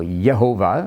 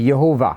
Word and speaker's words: Yehovah: Nehemiah Gordon has informed us that there are texts where the pronunciation appears to be Yehovah, and that's quite possible.